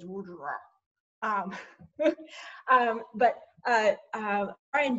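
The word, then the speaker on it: WOJR: firm was called w-o-j-r which i always pronounce in my own mind as wordra um but uh uh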